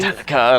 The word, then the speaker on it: Metallica: Metallica. You can't even say it properly. Like you have to Exactly. elongate the A. Metallica, like that.